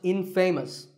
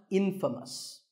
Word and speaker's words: infamous: But it's not pronounced infamous, it's pronounced infamous.